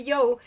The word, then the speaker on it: Yous: So obviously you know that the Yo, or the Yous, because it's written you, but it's said in the book that it's pronounced yo.